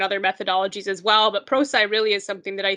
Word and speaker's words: Prosci: prosci um that's p-r-o-s-c-i it is pronounced procy not procee which i made a mistake on so i understand that